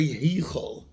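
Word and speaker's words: היכל: But Heichel, you spell it with a Tzera. Tzera is called the Tenua Gdoila. And a Tenua Gdoila has in it a hidden Yud. Especially in the Ashkenazi Avar, you say Heichel, like another, which upgrades the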